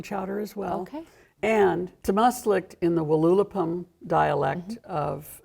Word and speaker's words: Tamástslikt: Tamástslikt.